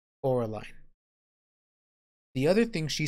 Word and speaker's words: Coraline: getting her name wrong they call her Caroline she keeps saying my name's Coraline not Caroline Coraline the other thing she